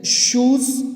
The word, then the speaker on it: shoes: जैसे शूज़ rhymes with Juj. शूज़ को juice बोलेंगे, जूस से राइम कर रहा है, मतलब सेम आवाज़ दे रहा है.